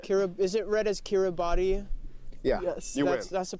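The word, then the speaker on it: Kiribati: Is it read as Kiraabody? Yeah. Yes, that's the pronunciation.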